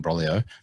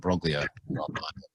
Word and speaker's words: Broglio: ivors either um on in broglio not in brolio but i'm going to stick with the hard g and broglio so you can stick